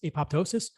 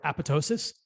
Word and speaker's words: apoptosis: cause programmed cell death also known as apoptosis or apoptosis depending what school of medical pronunciation you come from and they cause dna